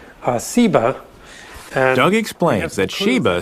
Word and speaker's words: Seba: also a related term a term that most scholars think is related that has just a different S sound Seba and Augie explains that